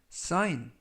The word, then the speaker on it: sign: 활용 넘은 10개를 알아보겠습니다 이번 표현은 싸인 싸인 싸인 2 라고 발음 하시면 되겠구요 이 때 유의하실 점은 알파벳 쥐가 이번 단어 에서는 묵음 이라서 발음이 되지 않습니다 품사는 명사 뜻은 표지판